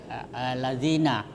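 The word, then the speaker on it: الَّذِينَ: Innalladzina alladzina. Nah, itu idegam syamsiah. Alif lam ketemu lam. Jadi dua lam di situ. Pertama alif dan lam. Kemudian alladzina. Jadi lam pertama dimasukkan ke lam kedua ya.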